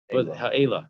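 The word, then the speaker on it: האלה: How to pronounce the tree? Ha'ala. Ha'ela. Ela. It's called the Ela tree.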